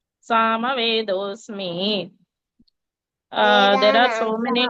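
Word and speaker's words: सामवेदोऽस्मि: वेदानां Sama वस्मि is wrong. Sama Vedosmi.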